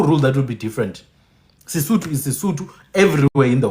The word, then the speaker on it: Sesotho: It says Sotho, but it's pronounced Sesotho. Do you get what I'm saying? Sotho. When I when I see I'm seeing Sotho, but they're saying no, it's Sesotho.